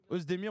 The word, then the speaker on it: Oezdemir: vois puisqu'on est avec volcan sdmire osmir on prononce comme ça pour ceux qui ne